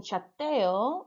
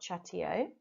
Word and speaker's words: chateo: Number 3, it should have been chateo and not chateo.